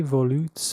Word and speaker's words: volutes: The name of the track is Mi Volutes Bleu. That's right. It's pronounced volutes.